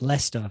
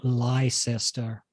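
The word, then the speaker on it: Leicester: North America try to pronounce Lester for example which is not spelled anything like that it looks a bit more like a liester yeah um other one's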